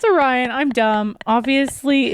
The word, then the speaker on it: Orion: also could be wrong, but I think it's pronounced Orion. Is it Orion? I think so. Did I say Oran? Yeah. Yeah. Sorry about that. It's Orion. Yeah, cuz it's Orion's belt.